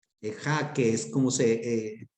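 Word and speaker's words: איכה: El famoso término ejá en el hebreo, ejá, que es como se pronuncia el nombre lamentaciones en el hebreo.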